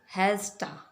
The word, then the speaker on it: hasta: ठीक, और इसे प्रोनाउंस किस तरह करेंगे? हम इसे हम पढ़ेंगे हैज़टा, हैज़टा।